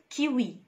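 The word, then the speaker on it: kiwi: أو بيتنطق و و زي في كلمة كيوي.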